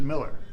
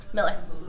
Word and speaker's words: Mueller: I look forward to seeing everybody and you pronounce it Miller Miller I do not correct anybody though the easy